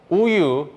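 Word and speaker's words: 우유: Uyu together means milk in Korean.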